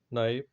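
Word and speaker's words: knife: तो इस तरह से जो है आप देखोगे नॉलेज, नाइफ, नो, एटसेट्रा, ठीक है। तो इसमें के साइलेंट होता है।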